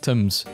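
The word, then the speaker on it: Thames: sometimes I'm reminded that the name of the river Tims is pronounced Tims and I just sometimes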